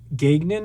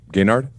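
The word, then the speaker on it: Gaignard: that you stole from jason gagnon i believe is how you say it gaynard oh again excuse me gaynard if you and i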